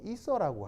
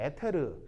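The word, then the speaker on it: ether: 뭐냐면 아니 뭐 여기 있어 이게 아니고 자 이거 이게 이제 일본식으로 읽으면 에테르 에테르 알겠어요? 근데 영어식으로 읽으면 이서 여기 이제 이렇게 알겠죠? 이서 알겠죠?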